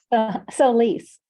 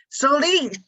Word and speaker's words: Solis: say your last name again I'm so sorry soise soise okay Co brain that's my excuse um Marita